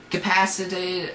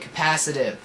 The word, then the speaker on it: capacitive: that's really neat um capacitated or capacitive that's how you say it capacitive capacitive touch censor for